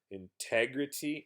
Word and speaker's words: integrity: i will say um sometimes in an american accent native speakers will pronounce a t like a d and this is a case where if you listen to how i actually say the word i turn this t into a d instead of a t i